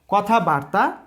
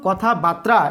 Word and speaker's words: কথাবার্তা: কথাবার্তা এবং কথাবার্তা এই দুটি উচ্চারণের মধ্যে কোন উচ্চারণটি সঠিক আমরা জেনে নেওয়ার চেষ্টা করি কথাবার্তা আর হচ্ছে কথা বার্তা কথাবার্তার অর্থ হচ্ছে বাক্যালাপ বাক্যলাপ বা কথোপকথন কিন্তু কথা বাত্রা এরকম শব্দ বা শব্দের উচ্চারণ কিন্তু বাংলা ব্যাকরণের অভিধানে নেই কাজেই কথা বাত্রা এর